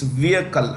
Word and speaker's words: vehicle: okay the edge is silent my friends it's vehicle how do you pronounce vehicle unmanned aerial vehicle okay yeah so so i